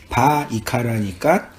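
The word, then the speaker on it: ויקרא: 그러니까 바 이카라니까 그리고 부르다.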